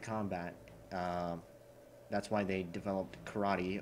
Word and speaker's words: karate: That's why they developed karate, or how you should pronounce it, karate.